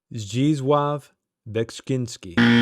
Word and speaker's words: Zdzisław Beksiński: He is a Polish artist, and it's very difficult to pronounce his name. It is Zdzisław Beksiński. It is Zdzisław Beksiński.